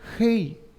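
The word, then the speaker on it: ה: la letra g que se pronuncia hei y es cultural y es sacar el aire desde la garganta hey y es como que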